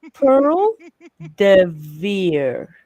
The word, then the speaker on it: Pearl de Vere: Um, it's Pearl de Vere. It's what? Pearl de Vere. Not Pearl de Vere. Perdever? No. Pearl Perdever? de Vere.